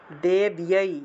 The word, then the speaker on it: দেব্যৈ: এই যে বয়ের সাথে জফলা থাকলে বিয় উচ্চারণ হবে ব্যাপ্তি দেব্যৈ, এইভাবে উচ্চারণটা হবে। ব্যাপ্তি দেব্যৈ, এইভাবে উচ্চারণ হবে, ইয় উচ্চারণটা আসবে।